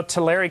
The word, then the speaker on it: Tulare: we took which is really unfortunate you know Tulare County is how it's pronounced actually but the Tulare County we are